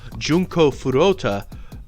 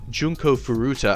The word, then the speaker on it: Furuta: torture of this girl Junko Furuta maybe I'm not pronouncing her name right it's been a long time Junko Furuta I think is her name but yeah that's kind